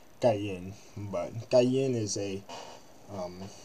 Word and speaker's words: Karen: Karan and Ken is a um it's technically pronounced gayen but gayen is a um it's like a